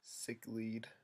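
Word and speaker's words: sicklied: Sick-lied or pronounced sick-lead.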